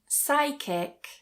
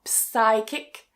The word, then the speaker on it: psychic: Psychic. Psychic. Notice that that P is also silent. So, not psychic. Psychic.